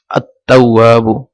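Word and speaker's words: التواب: করেছি তখন দেখা যাচ্ছে এটা লাম এটা উচ্চারিত হচ্ছে না, আত-তাওয়াবু। ডাইরেক্ট এটা যে হামজাটা তার সাথে আসি সংযুক্ত হয়েছে।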